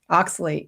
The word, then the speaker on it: oxalate: Did I pronounce it right? Oxalate? Oxalate.